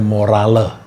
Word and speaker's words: morale: yang bahasa bahasa Inggrisnya tulisannya morale bacanya moral tapi kalau di belakangnya tidak ada e-nya bacanya more moral moral bahasa Indonesia ini